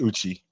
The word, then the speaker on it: Uche: It's not an accent over the E, so probably Uche. Okay. But are we all feeling Uzi? Come on. Yeah, Uzi. Yeah, I'm feeling Uzi. But he's cream for that. So it's pronounced Uchi. Uchi. Okay. Okay. So first one I said Uchi.